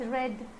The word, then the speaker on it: read: ever read spelling is there why i have pronounced as red any idea yes see near have work right